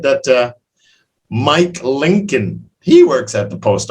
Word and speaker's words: Lincoln: but that's a hard one l-i-n-c-o-l-n-col but it's pronounced lincoln yeah were his parents happy to see him